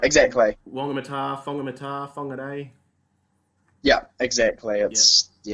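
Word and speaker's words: Whangamatā: They pronounce WH as a F. Yeah, yeah, Like exactly. Wongamata, Fongamata, Fongaday.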